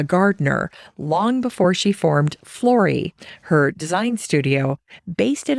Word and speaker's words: Flori: In 2017, Lori formalized a business, and she named her studio Flori, and it rhymes with Lori, and I love that.